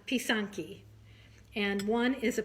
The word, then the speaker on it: pysanky: it you pronounced it Poisson ki p ee sa NK y would be like the phonetic spelling so piss on piece on ki and one is a